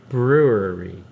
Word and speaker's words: brewery: Brewery. How do you say it? Brewery. Say it again. Brewery. Brewery. Brewery. There's two syllables.